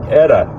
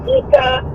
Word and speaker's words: Etta: So, Etta. Yes, all my life I've been made fun of because of the way people pronounce it. I mean, some people get it right away and most of them don't. So, growing up all my life, it was like Ita.